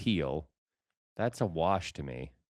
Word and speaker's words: Gil: Pronounced Gil.